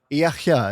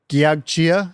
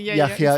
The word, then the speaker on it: Giachgia: And we're joined today by Savina Yaka. Is that right? Correct pronunciation. Yeah, it is. It's spelled Gagia if I were to read it. Yaka is correct.